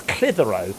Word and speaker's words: Clitheroe: The amount of ridiculous place names is just like I live near a place, and its correct name is Clitheroe, but it's spelt Clit Hero.